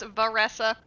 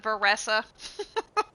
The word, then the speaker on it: Varesa: It's pronounced Vessa. It's like Vanessa but Veressa.